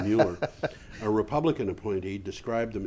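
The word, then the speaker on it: Moeller: Commissioner Philip Mueller, I'm sorry, I'm pronouncing that in German, probably Mueller, a Republican appointee, described them as, quote, not insurmountable, end quote.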